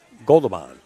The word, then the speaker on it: Goberdhan: He goes under Joe Wilson Torres, okay, and he's going to be playing this gentleman you see, Jason Goberdhan, is how he pronounces his name.